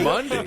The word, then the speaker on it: Mundy: Mundy. How is the come and go? Mundy. It's Monday, but it's spelled with a U, and it's pronounced Mundy.